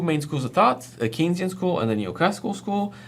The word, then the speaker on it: Keynesian: the way yes this word is in fact pronounced keynesian i you know at first when i saw it written i was like canezian can kind kinesian no it's it's apparently as far as i